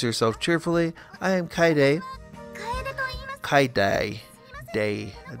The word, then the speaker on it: Kaede: How does one pronounce Kaede? Pronunciation. How to pronounce Kaede? So K as in key, I as in lie, D as in do, I or A as in pain. Kaede. Kaidai.